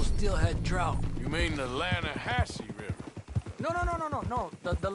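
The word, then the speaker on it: Lannahechee: You mean the Lanahassee River? No. The Lanahatchee. It runs right near here. Yeah, but it's pronounced Lanahassee.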